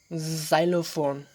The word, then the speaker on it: xylophone: มีกล่อง1อันอยู่ทั้งโต๊ะ But there are a lot of people don't know that when X is at the beginning of the word in English, it usually sounds like Z. บางครั้งตัว X ออกเสียงพยัญชนะ Z เมื่อมันอยู่ในต้นประโยคเนาะต้นคำศัพท์ For example, xylophone, Xerox.